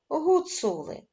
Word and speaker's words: Гуцули: Гуцули має три склади причому наголошеним буде середній склад цу гуцули проаналізуємо слово Швець скільки